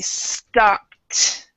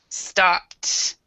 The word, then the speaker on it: stopped: past tense Ed because because you have a p right here we would actually pronounce this like a t so it would be stopped stopped and um also um